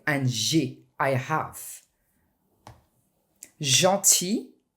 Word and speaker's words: gentil: Gentil, for masculine and feminine is the same sound, same as famille, one of your topics.